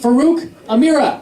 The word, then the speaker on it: Faruk Amireh: That's how you pronounce it. Faruk Amireh.